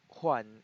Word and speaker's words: Juan: am one my name is Juan actually it's pronounced one in in Tagalog so first say I aku